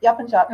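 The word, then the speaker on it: Yapıncak: Is that always the C is always a J? Is that in Turkish language? Yes. The C is always a J sound, unless the C has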